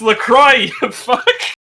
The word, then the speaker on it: LaCroix: that one video the it's pronounced Lacroix and he starts breaking it